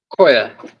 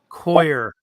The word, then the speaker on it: coir: What is the correct pronunciation? Koya. Coir.